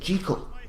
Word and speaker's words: Jekyll: Hyde and yes I said Kiko because that's how it's pronounced here and how it was originally meant to be pronounced in this film is